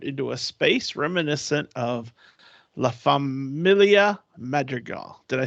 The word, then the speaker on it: La Familia Madrigal: will be transformed into a space reminiscent of La Familia Madrigal did I say it right Sophie you did